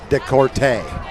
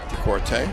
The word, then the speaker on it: DeCourte: I've heard people pronounce it both ways, but it's DeCourte. DeCourte.